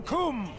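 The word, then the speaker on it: Coomb: To arms, to arms, defend the Kum.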